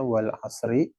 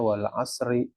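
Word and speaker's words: والعصر: Tapi kalau disukun kita wakof ya, bukan disukun, di wakof, ketika bacanya diberhentikan di kata tersebut, maka kita nggak bacanya wal asri, yang diajarin wal asr gitu kan.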